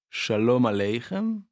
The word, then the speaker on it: Shalom Aleichem: Donc là, ce qu'on vient d'écouter, c'était Shalom Aleichem, et non pas Sholem Aleichem. Donc il y a la chanson et il y a l'écrivain, il ne faut pas confondre les deux. Ça ne se prononce pas pareil.